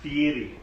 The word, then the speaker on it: Fieri: It's pronounced Fieri.